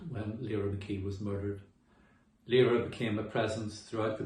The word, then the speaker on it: Lyra: just called look up i use the pronunciation lyra when i'm talking about the constellation for which lira mckee was named look up the things